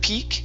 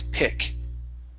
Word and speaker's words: pick: Give me a short I sound instead of peak it's pick.